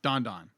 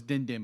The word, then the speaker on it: Don Don: Thank you, Don Don. I always thought it was Din Din, but it's Don Don.